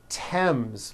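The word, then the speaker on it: Thames: Although these next words and names are spelled with a thron if they were spelled with a normal t like that. And these words are Thomas, Thompson, Teresa, Thailand, Tames, like the river, Esther, and time, which is a spice.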